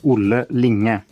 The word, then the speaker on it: Linge: So, my name is Ling. That's how I pronounce it.